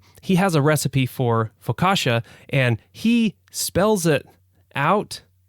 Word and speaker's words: focaccia: And so I think he spells it F-O-C, it could be a K, I can't remember. I'd have to go and check the cookbook. A-S-H-A.